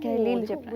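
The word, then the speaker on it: Khalil Gibran: हाँ, ही इज कलील जिब्रान actually. No, नॉट खलील, ही इज नॉट अ मुस्लिम। कलील जिब्रान। हाँ, इट्स खलील जिब्रान, इसका pronunciation सीखने का मुझे मौका मिला।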